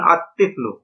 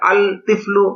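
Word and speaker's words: الطفل: তিফলুন আলিফ লাম যোগ তিফলুন সমান সমান আতফলু এখানে আল তিফলু এটা গলত উচ্চারণ লামটা উচ্চারণ হবে নাভাবে রজলুন আলিফ লাম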